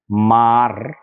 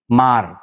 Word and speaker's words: mar: अरे माँ जैसा ही प्रोनाउंसिएशन, माँ, क्योंकि रे को तो वो साइलेंट रखते हैं ना, बोलते नहीं, भगवान जाने क्या हो गया उनको।